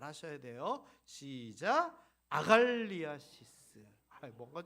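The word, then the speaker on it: ἀγαλλίασις: 이거 발음을 잘 하셔야 돼요. 시작. 아갈리아시스.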